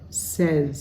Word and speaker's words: says: But if he or she or it says something, we change that vowel sound from an A sound to an E. I call that short E. It's sort of like met. Says.